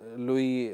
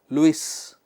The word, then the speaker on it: Louis: Hollywood I think uh Louie um please understand when I say Louie the spelling is L O UI yes Luis you know but in French it's called Louie Louie fad.